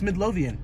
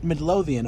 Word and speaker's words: Midlothian: How do you pronounce the city that this is in? Dallas. No, it's isn't it? Midlothian. It's Midlothian. Yeah. Midlothian.